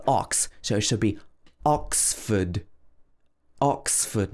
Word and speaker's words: Oxford: ford but bradford and the next one is oxford oxford obviously oxford is a very famous place